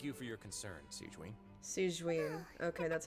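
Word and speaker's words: Sigewinne: Siegewein. Okay, that's how you pronounce it.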